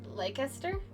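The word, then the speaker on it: Leicester: dialect is edit God I say it right now like leaster oh cuz yeah it's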